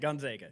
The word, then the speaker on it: Gonzaga: Gonzaga.